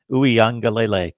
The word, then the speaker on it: Uiagalelei: So Uiagalelei, I believe, is the correct pronunciation.